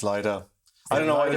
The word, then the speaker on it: Lido: how to pronounce because we don't know whether it's Lido or Lido. Apparently it's Lido.